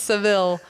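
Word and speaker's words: Sevilla: drove Cadillac sevil well in English it's Seville and in Spanish it's seevilla but it's weird because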